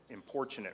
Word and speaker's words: importunate: terms the importunate neighbor importunate rhymes with unfortunate but what does it